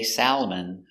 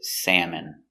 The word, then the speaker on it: salmon: We don't say salamon, we say salmon.